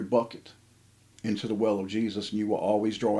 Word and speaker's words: Jesus: His name is J-E-S-U-S. And it's pronounced and sounds and says, Jesus.